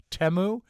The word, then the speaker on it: Temu: long long delivery from teu or as I heard it pronounced on the news today temu but they did eventually